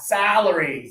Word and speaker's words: salary: Two fingers, not here, but here. Ah, salary. Salary. Good. And now close your teeth for celery.